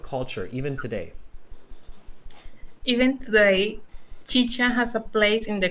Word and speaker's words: chicha: carolina i'm canadian and i kept pronouncing it chica how much how much how much chicha do you think i've